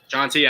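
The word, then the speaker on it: Jeanty: he's been playing against Dy you mean jonty I I oh that's how you say his name is jonty yeah Ashton jonty all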